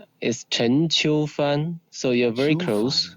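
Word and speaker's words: Chen Qiufan: correct Stanley yes perfect now how do you pronounce it in Chinese your Chinese name is Chen Chu fun so you're very close yes you see I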